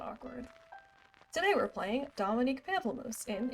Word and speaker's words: Pamplemousse: Pamplemousse. It's Pamplemousse. I said it wrong.